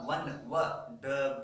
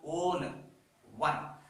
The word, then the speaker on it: one: ಒನ್ W. So that is the most important thing here. We have to understand, we have to know the sound while pronouncing that word O-N-E-1, not own one.